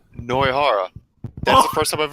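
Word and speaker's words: Nohara: Wait, is that really how her name's pronounced? Noihara.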